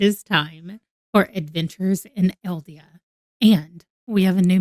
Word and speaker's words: Aeldia: just paid attention tonight she said eldia she said adventures in eldia and I was like oh okay that's how you say it so adventures and eldia